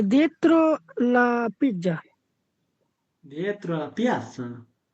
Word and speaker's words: piazza: è dietro la piazza, Dietro la piazza. o piazza, Piazza. piazza, Piazza. Z'র উচ্চারণ S হয়।